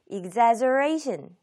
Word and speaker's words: exaggeration: 과장이라는 명사형으로 많이 쓰여요 exaggeration exaggeration 이렇게 발음해 주시면 과장이란 명사형이 되겠고 명사가 되었을 때에는 강세가 하나 더 뒤로 이동했죠 exaggeration 아니면 과장된 이렇게 이제